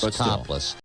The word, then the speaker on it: Toplis: L-I-S instead of L-E-S-S, but it's Topless. And it's not how it's spelled, it's how it sounds.